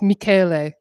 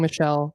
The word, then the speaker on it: Michele: It's Michele. YouTube has told me. I've been saying Michelle because I'm lazy, and I don't ever say names out loud.